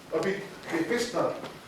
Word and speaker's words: Bethesda: I've been trying to pronounce it all week, hey? Bethesda.